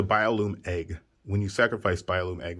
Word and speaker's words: Biolume Egg: a bio bio loom i said it wrong i said bio flume didn't i it's the biolume egg when you sacrifice biolume